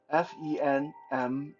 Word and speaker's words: 坟墓: Graves, tombs in Mandarin is called 坟墓, Fenmu, 坟墓. Um, ancestor is pronounced 祖先, Jushian.